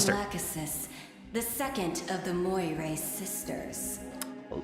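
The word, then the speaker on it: Lachesis: Lacasis, the second of the Moira sisters. Lacasist. That's how you say it. I always said it as Lesus, but to be fair,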